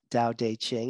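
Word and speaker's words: Tao Te Ching: starr s-t-a-r jonathan starr dao dei ching and dao is spelled t-a-o-t-a-o dao de ching is t-a-o-t-d-t-e c-h-i-n-g so dao dei ching so it's the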